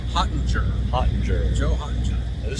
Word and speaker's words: Hottinger: Hottinger.